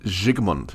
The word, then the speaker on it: Vilmos Zsigmond: life of me, I'm going to have trouble pronouncing that dude's name. Vilmos Zsigmond. Zsigmond, yes, very good.